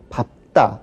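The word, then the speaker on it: 밟다: 그러나 밥다라는 동사만큼은 예외적으로 뒤에 오는 비읍으로 발음합니다. 그밖에 넓죽하다, 넓다 역시 뛰어는 비읍으로 발음하는데 뭐 넓죽하다나 넓다는 우리가 혼동하는 경우가 없으니까 뭐 그렇게 주의하지 않으셔도 되지만 밥다는 밥다 혹은 밝다 우리 두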